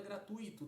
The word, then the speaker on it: gratuito: Primeira palavra, gratuito, 3 sílabas. Sílaba do meio apresentando um ditongo, um encontro vocálico, não é? Gratuito, ou seja, eu tenho aí um U mais forte do que um I. Gratuito.